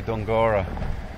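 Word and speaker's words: Dunguaire: um this is called dunguro castle it's spelled don guerra d-u-n-g-u-a-i-r-e but all the locals say don gora and is that a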